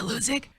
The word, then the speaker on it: Hludzik: ago, and I said, is it Hludzik? That H is silent, right?